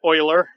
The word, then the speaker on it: Euler: chlid I know but anyway so fun fact oiler Euler Sophia follow hockey you know there's a